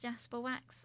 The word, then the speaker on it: Jasper Wax: Jasper wax um and it is pronounced Jasper wax like you would say with an s on the end however it is spelled with an X because I'm uh an